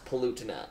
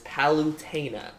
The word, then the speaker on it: Palutena: Kid Icarus this is the it is not pollutina as my friends say it is palutena please pronunciation who brought anything up about Ludacris you